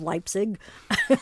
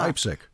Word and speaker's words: Leipzig: you who don't know lipstick has actually spelled leipzig like leipzig it's close isn't it l-e-i-p-s it sounds exactly like the one in germany yeah that's what i think leipzig yeah are there germans